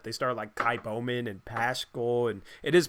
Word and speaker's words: Paschal: They started Kai Bowman and Paschal, and it is Paschal, by the way. I was right on that pronunciation.